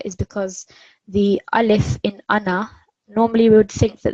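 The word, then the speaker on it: أنا: are not meaning i it it basically is pronounced as ana rather than an R so we do not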